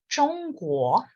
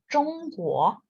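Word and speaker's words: 中国: China em chinês é Zhongguo. Zhongguo não tem nada a ver com China.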